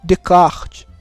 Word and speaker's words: Descartes: o pessoal fala mas o essa ele não é pronunciado então é remédio de kart eu só tirar Oeste